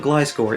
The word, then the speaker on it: Gliscor: And even though it's not always the definitive authority, the anime clearly calls him Gliscor in many, many episodes.